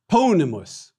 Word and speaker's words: ponimus: Ponimus, short I in the second to the last syllable.